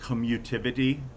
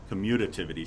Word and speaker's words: commutativity: have what we call commutivity commutativity sorry i missed a syllable there uh but they're